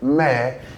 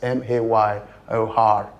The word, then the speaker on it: mayor: Yes, how you pronounce the m a r e there, mayor, is the same way you pronounce m a y o r, mayor.